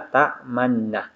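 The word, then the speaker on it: تَأْمَنَّا: Jadi dibaca ta'manna, ta'manna. Jadi domanya terbuang dan hanya diisyaratkan dengan bibir dimonyongkan.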